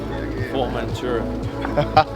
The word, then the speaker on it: Formentera: Formentera.